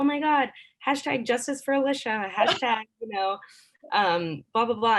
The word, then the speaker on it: Alicia: said my name wrong everyone calls me alicia but alicia and i always tell people it's like delicious which is like weird